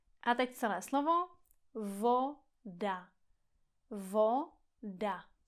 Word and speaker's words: voda: Voda. Voda. Pozor, není to vou, ale o. Vo. Voda.